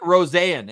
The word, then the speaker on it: Rosean: Isaac Rosean. He's got the long pronunciation, but that's how he wants it.